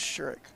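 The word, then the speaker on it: Sherrock: Fallon sherik too well I learned to say her name rightly it's sherck sure that that's way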